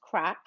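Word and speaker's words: craic: morgan definition of crack spell c r a i c but pronounced crack and it is basically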